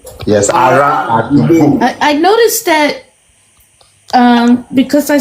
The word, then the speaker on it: ará àdúgbò: through some other books, some words are spelled with a L, but you're saying them with a R. No, I have seen that as well. The most commonly used one is with an R, ará àdúgbò.